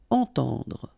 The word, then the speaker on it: entendre: Okay, so two times this nasal en, entend, and then at the end don't insist on the final e, dr. Entendre.